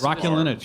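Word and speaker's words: Raskulinecz: Rascalinich. I forgot that. Rascalinich.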